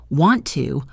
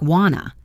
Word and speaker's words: want to: For example, want to almost always sounds like wanna. Going to sounds like gonna and let me sounds like let me.